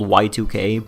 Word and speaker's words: Yiik: Just to prefix the video with this, I know it's called Y2K, but it's spelled Yiik, so I'm going to say it like that. Yiik, the postmodern RPG, is